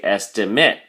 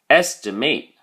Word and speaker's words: estimate: estimate estimate if you're using it as a verb then the a sound becomes a lot harder so we say estimate estimate do you hear the difference estimate for the noun estimate for the verb let's look at the